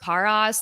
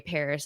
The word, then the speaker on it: Paras: I remember like even Parus like she uh I think her name is pronounced Paras. Like I'm pretty sure that's why if I say it weird that's why. Um Oh, I didn't know. So she Yeah, that's like the white way. Paris is like the white